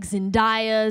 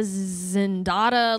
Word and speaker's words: Zendaya: I call it Zendaya actually because people always mess up my name. Yeah. And it's like Zendaya, Zendada, like it just gets crazy, right?